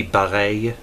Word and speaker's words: Bareilles: you know if we were to be faithful to the authentic French pronunciation of her last name it would actually be ballet but well since we